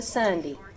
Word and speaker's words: sundae: So if it's a French word like Sunday, make it a long A. So you would sound very uneducated if you said, I'm